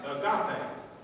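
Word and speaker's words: agape: is one of them a g a p e pronounced aape okay if that's a new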